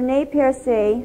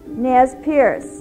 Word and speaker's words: Nez Perce: The French pronunciation of Nez Perce was later dropped by the English-speaking settlers who called them Nez Perce.